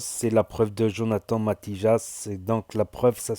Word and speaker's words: Matijas: Mais il y a la preuve de Jonathan Matijas, je dis Matijas parce que je prononce en espagnol, Matijas, je vais vous en parler.